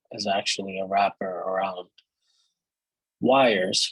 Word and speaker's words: Yrs: Why the YPy package, that is the CRDT backend client, is actually a wrapper around wires, which is spelled YRS, which is the Rust implementation of the YJS CRDT wire protocol.